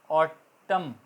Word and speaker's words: autumn: जैसे ऑटम, मन, AUTUM, ऑटम एक मौसम है ख़ज़ां का, पतझड़ का मौसम, उसमें AUTUMN है मगर बोलने में ऑटम है, एन साइलेंट रहता है।